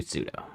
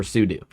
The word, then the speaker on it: sudo: And then this is where I got to do pseudo or sudo. How do you guys pronounce it? Sudo or sudo. Oh, failed to add dependency. You say pseudo as well. Yeah, even though I think technically like it stands for super user do something, right?